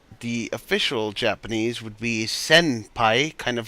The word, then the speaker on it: senpai: official Japanese would be senpai, kind of like jinbe, so it sounds like you're saying senpai, but it actually is sen, like a sinner, not a simmer.